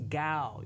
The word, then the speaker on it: Cao: much welcome back to collaboration with Congressman Joseph gal did I pronounce it right you pronounce it very the pronunciation is gal you know I know that a lot of